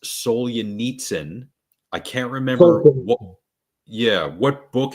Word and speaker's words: Solzhenitsyn: His name is Alexander, I think it's pronounced Solzhenitsyn.